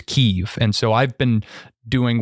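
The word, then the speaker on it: Kyiv: of Ukraine Capital as Kiev but I recently learned that the preferred Ukrainian pronunciation is keev and so I've been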